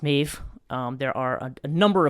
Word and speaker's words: Medb: Irish folk tradition and mave is spelled now the way that I'm spelling it for this podcast is me DB uh and that is in Irish that is pronounced mave um there are a